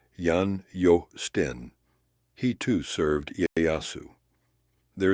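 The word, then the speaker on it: Jan Joosten: To be precise, though, aboard the same Liefde was a Dutchman named Jan Justen, pronounced Jan Jo Sten.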